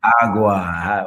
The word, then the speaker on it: Agua: business as Fuego y Agua. So I used the Spanish word fuego and then English word aqua, which is gotcha. Aqua. Yes. Gotcha. Still means water. But you still say it like agua.